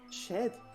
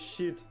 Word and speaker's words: shed: Habe ich's falsch ausgesprochen? Shed, nicht shit.